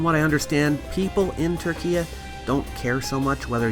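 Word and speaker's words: Türkiye: If you're wondering why I'm calling it Turkey instead of Turkey, it's because in 2022, the country changed its name through the UN officially to Turkey.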